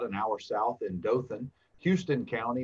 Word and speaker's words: Houston: you fall about an hour south in dothan houston county not houston county as they may pronounce it from folks up north but eufaula